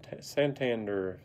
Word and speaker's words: Santander: Santander, that's how you say his name.